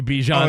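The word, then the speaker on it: Bijan: Earlier in the year, remember Bjan Robinson was like, "It's Bjon, but you guys can call me Bjan."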